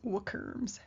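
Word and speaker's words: WCRMs: Upon successful completion of the eight steps, mediums are termed windbridge certified research mediums, which in house we pronounce werms.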